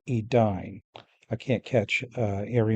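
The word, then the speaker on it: Edain: They still say Celiborn instead of Kellibornne and they say Edane instead of Edine.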